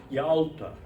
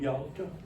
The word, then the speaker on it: Yalta: They are, and Nabokov again hints at that they are connected to a Russian sea resort, Yalta, Y-A-L-T-A, Yalta, where Nabokov spent his last years of living in Russia when they fled Petersburg, right?